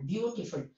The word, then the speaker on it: beautiful: Beautiful, for example, beautiful. The first syllable is stress, beautiful.